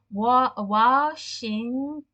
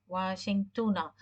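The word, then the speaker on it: واشنطنَ: So this is the name of the city in US, and it's pronounced in Arabic as Washingtona. Washingtona.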